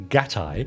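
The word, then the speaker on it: gattai: words to that effect the key is the Japanese I diphthong in this word which is pronounced like the English word I or the i in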